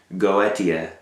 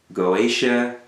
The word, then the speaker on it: Goetia: One term you're going to hear a lot is, as it's described later at least, Goetia, Goetia, Goetia, some people pronounce it differently.